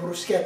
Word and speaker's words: bruschetta: bruschetta oh it's not called brusquehanna it's called brusquet that's got to see in it but I